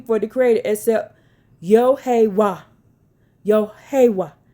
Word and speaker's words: Yahweh: Yahweh, Yahiwa, Yahweh. He observed that they pronounced it in 4 syllables, matching the Hebrew pronunciation that was hidden from the world.